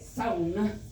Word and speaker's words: sauna: Yes, they do say it, sauna. The U is pronounced.